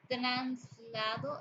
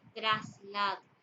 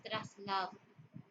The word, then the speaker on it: traslado: realidad es sin h o translado en vez de traslado en lo correcto es traslado la impropiedad es un